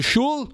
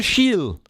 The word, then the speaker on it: shul: One go to Shul, one go to Shil.